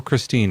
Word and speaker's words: Christine: Well, uh, Kristen or Christine, how do you say it? Christine. Christine.